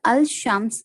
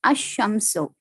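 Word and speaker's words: الشمس: When AL is prefixed to a noun beginning with solar letter, the L of the AL is assimilated to the solar letter. Example, Al-Shams, the sun, is pronounced as Ash-Shamsu.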